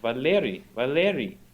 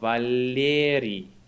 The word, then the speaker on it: Valeri: met him, he's like, why can't you say my name right? I was saying, Valeri. And he said, no, Valeri. Like I kept missing the soft L in the middle because I was focused on rolling the R at the end.